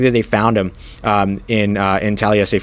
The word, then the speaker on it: Taliese: they found him in Taliese Fuaga, which, by the way, Talese is the name, Fuaga with a light N sound at the end there.